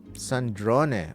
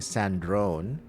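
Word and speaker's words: Sandrone: Sandron. Okay, so that's how it's pronounced. I I keep saying Sandrron, but Sandron, let me let me hear that again.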